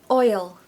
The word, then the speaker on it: oil: twice if I have this word needs a little why sound in the middle to help you say it okay it's like a magic why so it's oi oi it literally sounds like oi which is the sound